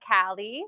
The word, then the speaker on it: Callie: I am Callie Edmonds it's pronounced Cali like California um I'm a digital